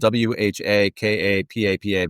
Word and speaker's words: whakapapa: It's spelled WHAKAPAPA, but it's pronounced whakapapa, which is basically your lineage, your roots, your identity.